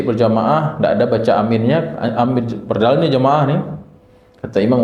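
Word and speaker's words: آمين: takmin alias membaca a amin ya amin ini cara bacanya adalah alifnya dipanjangkan mimnya juga dipanjangkan jadi Amin minimal dua harakat cukup Amin ini kalau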